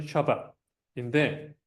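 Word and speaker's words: שבת: 샤밧 또는 세버스 이렇게 영어로는 세버스라고 많이 부르고 원래 발음 그대로 하면 샤밧인데 이게 이제 안식일로 번역이 되죠.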